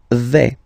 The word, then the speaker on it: vais: The first form is je vais. Okay, so remember, final S not pronounced here. Je vais.